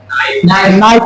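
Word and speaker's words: knife: एन से पहले के, एन से पहले के चुप है, साइलेंट। एन के पहले कहीं भी के देखो तो आपको साइलेंट हो जाना है, चाहे कनऊ हो चाहे कनऊ लदगी हो, है ना।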